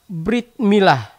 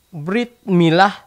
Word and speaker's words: Brit Milah: Orang Yahudi menyebut tradisi ini dengan nama Brit Milah, dan diucapkan Brit Milah dalam pengucapan Askenazi atau Kitan, dalam pengucapan Yiddish